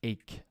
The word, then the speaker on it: ache: a k okay so CH sometimes is CH but in this case it sounds like a k chemical mechanical psychiatry ache this is commonly mispronounced I often hear H but it's ache stomach ache toothache headache